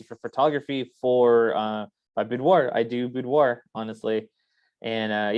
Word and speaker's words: boudoir: want to do some, how you pronounce that? Boudoir? Boudoir.